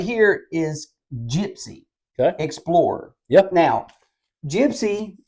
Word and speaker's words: Jypsi: pretty sure I seen something called Gypsy and by the way it's spelled JY PSI I like that Gypsy